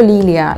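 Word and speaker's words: лилия: O por ejemplo, lilia, la flor, ¿no? Lilia sería esto, li, li, ya, ¿no? Con la L, lilia, vale, también un poco lioso, li, li, ya.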